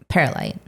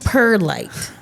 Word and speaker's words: perlite: So, so yesterday I had to get perite and perlite. Not perite. Perlite.